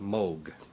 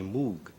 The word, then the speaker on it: Moog: and English-speaking countries uh people see the double O and they say moo I just happen to like the sound of Moog better than M part of my family pronounces it one way and part pronounces it the other way some lose